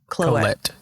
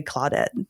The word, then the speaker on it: Colette: Colette Colette is her name. I always just say Clawudette.